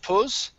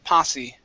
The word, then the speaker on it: posse: Instead of pose, this is posse.